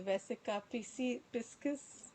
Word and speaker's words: vesica piscis: And the birth channel and the vesica piscis, that's how you pronounce it, and the fish and the eye